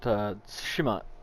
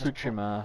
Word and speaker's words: Tsushima: That T was really soft when he said it. When we listened to the pronunciation earlier, the T was slightly harder, and then my American, accent makes it even harder.